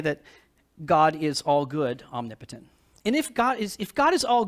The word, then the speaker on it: omnipotent: We change the pronunciation, we say omnipotent, right?